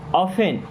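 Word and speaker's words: often: मीस होता है हम ऑफेन यहां पर टी साइलेंट होता है इसे पढ़ते ऑफेन ऑफेन मींस अक्सर प्ले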